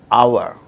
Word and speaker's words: hour: For instance words beginning with a silent H in the words hour, an honor, an honest man, an heir, an honorable man.